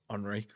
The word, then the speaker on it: Enrique: It's spelled slightly different, doesn't have a H, and it's pronounced Enrico rather than Enrique, which is his name.